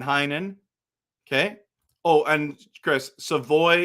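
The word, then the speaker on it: Savoie: Oh, and Chris, Savoy is the pronunciation.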